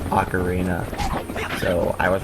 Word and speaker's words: ocarina: over at Nimbuzz, especially Ocarina. Uh, but for the record, all the commercials recently have it pronounced like Ocarina. It's not Ocarina. It's Ocarina.